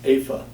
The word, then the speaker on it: Eva: She was born in Germany, so it's pronounced Afa, the first part.